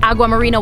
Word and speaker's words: Aguamarina: The Aguamarina expansion, that's Aguamarina with a G, as in español. I may or may not have been saying it wrong.